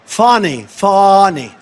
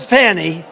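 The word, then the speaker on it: Fani: And not only that, all these local cases like Fawny. It's spelled Fanny. It's spelled Fanny like your ass, right, Fanny? But when she became DA, she decided to add a little French, a little fancy, Fawny.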